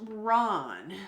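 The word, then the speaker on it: Rán: uh this is the hag of water it's pronounced Ron so Ron is the Norse goddess of the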